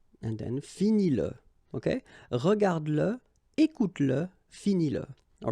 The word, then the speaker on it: écoute-le: Écoute-le. Okay, écoute-le. So here you pronounce it. And then finis-le. Okay, regarde-le, écoute-le, finis-le.